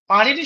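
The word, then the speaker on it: পাণিনি: এইযে পারিনি এইটা যখন আমরা সংস্কৃতে উচ্চারণ করি তখন এই যে মূর্ধন্য এর উচ্চারণটা আমরা দেখলাম অনেকটা ওই র এর কাছাকাছি আসছে। পারিনি বলছি আমরা। পানিনি বলছি না।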